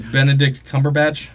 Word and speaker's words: Benedict Cumberbatch: And that was Benedict Cumberbatch? Yes. Did I pronounce that right?